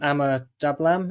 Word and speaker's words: Ama Dablam: you use this ride as training to climb Ama Dablam. Is that how you pronounce the?